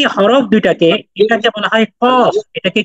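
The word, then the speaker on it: قاف: কফ কফ কফ বললাম মোটা হরফ উচ্চারণটা মোটা হইলো কফ আর পরের হরফটা উচ্চারণের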